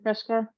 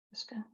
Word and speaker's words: FRSCA: And, you know, it's not Fresca, that's not how you pronounce it. Is it like this? Fresca, FRSCA? I think so.